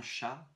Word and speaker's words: Х: Il faut penser à un chat qui crache, qui n'est pas content. Ch. Ou alors pour être un peu plus sérieux, tu positionnes ta bouche comme si tu allais prononcer un K, que, et au lieu de bloquer l'air, tu laisses passer l'air.